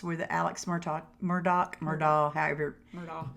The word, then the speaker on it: Murdaugh: Murdaugh. It's spelled Murdaugh, but I hear people say Murdoch all the time.